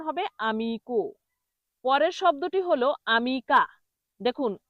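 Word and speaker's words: amico: তাহলে এটা ম্যালে বলা যাবে না, এটা সঠিক উচ্চারণ হবে মালে। পরের শব্দটি হলো আমিকো।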